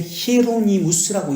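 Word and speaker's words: Hieronymus: 영어로 히에로니무스는 초대교회에 히에로니무스라고 있습니다. 초대교회 공부하신 분들 기억하시죠? 영어로 뭐죠? 히에로니무스가? 제롬입니다. 제롬. 지금 영어로, 라틴어로 히에로니무스 지금 되어 있죠? 영어로 제롬입니다. 히에로니무스, H가 히에로, 묵음이죠?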